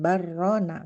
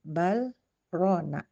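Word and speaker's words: بَلْ رَانَ: Tidak seperti biasanya ketika huruf lam bertemu dengan ro bisa diidgamkan bukan barrona tapi bal rona.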